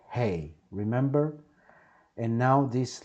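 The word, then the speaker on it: ה: So, letter hey. To remind you, the sound of hey is like when you say hey, hey you, how are you? Okay, keep that in mind.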